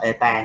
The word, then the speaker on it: eta: Đọc là eta này. Chữ n dài đuôi nhưng mà đọc là eta.